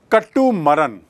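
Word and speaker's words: கட்டுமரம்: Catamaran is actually come from A Tamil word, Tamil word है जिसका उच्चारण है कट्टू मरन। कट्टू मरन अंग्रेजी में कैटामरान हो गया है, और कट्टू मरन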